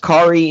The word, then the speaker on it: Kaare: and we're pronouncing it kari andrews uh if there's another pronunciation that we don't know about i apologize ahead of time all right the internet told me it rhymes with atari okay one thing we're